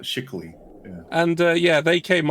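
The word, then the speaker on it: Schickele: Shickily, okay. And yeah, it's got a pronunciation guide on it. Shickly.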